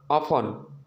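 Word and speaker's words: often: तो छोड़कर बाकी टी साइलेंट होता है, टी साइलेंट। जैसे listen, ऑफन, गिलिसन, match, catch, batch, ठीक ना।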